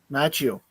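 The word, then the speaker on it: Macchio: the mailbag from I don't know how to pronounce his last name. Ralph Machio from Karate Kid. Matchio.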